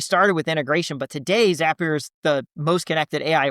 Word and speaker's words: Zapier: this, I pronounced it Zapier and you said it's Zapier and you you had a little pneummonic for it. So, tell the folks how to remember Zapier. Yeah, Zapier makes you happier is the Zapier makes you happier.